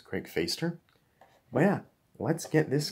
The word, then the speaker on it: Fäster: believe it is pronounced faceder because it's got that like accent on the a so it's not craig faster it's craig feister but yeah let's get